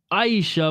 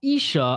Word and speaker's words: Aisha: First, I thought your name was pronounced Aisha, but it's Isha.